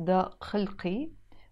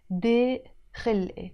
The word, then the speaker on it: ضيق خلقي: In standard Arabic you notice I write it ضاق خلقي but we don't pronounce it ضاق خلقي we say ضيق خلقي.